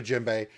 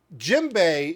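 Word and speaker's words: djembe: love with it now jimbe is spelled with a d DJ MB the D is silent and uh here's the thing um Jim Bay are original to West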